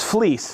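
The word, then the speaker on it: Vlies: Now, this is fleece. V L I E S. I've heard it pronounced a hundfold.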